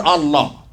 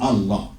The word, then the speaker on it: Allah: this plus this and it's pronounced as La everywhere except in the word Allah all right he now